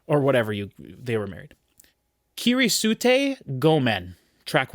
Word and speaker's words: Kirisute Gomen: Kirisute Gomen, track 1. And I know that's how that's pronounced because I just spent 120 hours in feudal Japan in Assassin's Creed Shadows.